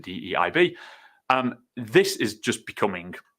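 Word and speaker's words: DEIB: in there as well sort of known as DB or how we pronounce it de IB um this is just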